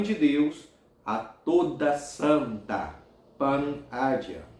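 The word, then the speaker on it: Panagia: Os padres da tradição oriental chamam a Mãe de Deus a toda santa, Pan-Agia, pronuncie Pan-Agia.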